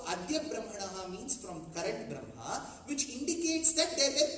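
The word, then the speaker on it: ब्रह्मा: So if you pronounce it in the way you write, what should you say? Brahma. Correct? But when you pronounce it, Ma takes precedence over Ha. So you call it Brahma. But when you write it, you put Ha first.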